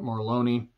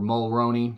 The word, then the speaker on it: Mulroney: a cop played by Dermot marloni or Mulroney sorry I always get that name wrong and then more deaths